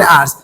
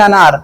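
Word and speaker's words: hours: थोड़ा तेज बोलिए, जो आप बोल रहे हैं आपका प्रोनाउंसिएशन एकदम क्लियर होना चाहिए। आप बोल क्या रहे हैं ना, अगर आप क्लियर नहीं करेंगे तो आफ्टर 10 अनार, ठीक है ना, 10 अनार के बाद, 10 अनार नहीं, आफ्टर 10 आवर्स, 10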